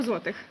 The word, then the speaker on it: złotych: How do you pronounce this? Zelari. 100 złotych.